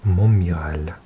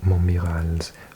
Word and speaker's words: Montmirail: The emblem was taken from Montmirail's own seal. Actually, I think I mispronounced it. It's an I-L, but it's dark in this room. Montmirail, I think.